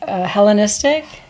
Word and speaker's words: Hellenistic: Hellenistic.